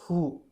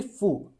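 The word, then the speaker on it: ふ: This is he now this this this is not who it is actually fu.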